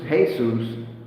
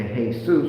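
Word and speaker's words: Jesús: Okay, because you don't know the J is silent, a H sound over there. It ain't no J sound.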